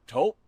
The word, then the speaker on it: Taupe: Or taupe insurance. Maybe. I don't think so. Say it right. That's t o p. That's taupe.